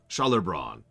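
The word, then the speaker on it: Gjalerbron: call the place um Scher Scher Bron though you'd pronounce the GJ as if it were an sh odd creatures anyways that's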